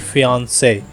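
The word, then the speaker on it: fiancé: लिए हम कहते हैं प्रोनाउंसिएशन होगी फियांसे, लेकिन जब फीमेल मंगेतर की बात होगी तो होगी फियांसी, यानी CEE आएगा उसमें।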